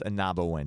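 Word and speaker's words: Ah-Nab-Awen: park anabo win one of these days you'll pronounce it anawin is it it's anabo win just say anabo win you say that I'll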